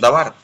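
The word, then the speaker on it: דבר: el hebreo sí que significa davar acta acuerdo pronuncia davar la palabra por implicación materia como de lo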